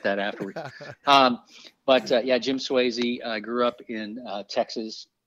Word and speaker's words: Swayze: So, and I am pronouncing it correctly to say Swayze.